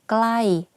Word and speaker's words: ใกล้: For example, the word ไกล or ใกล้ the pronunciation is the same, but the intonation are different.